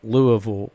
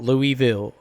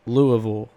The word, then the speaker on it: Louisville: Louisville which by the way people it is pronounced Louisville not Louisville its Louisville Kentucky if you if you live in Kentucky